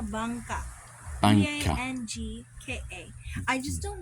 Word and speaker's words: bangka: Well, I believe that's called a bangka.